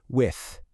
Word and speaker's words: with: Pay attention to that TH sound at the end. It's soft. With.